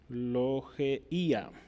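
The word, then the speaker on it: λογεία: Esta frase, o la pronunciación es logeía, y significa contribución, colecta, ofrenda, ¿verdad?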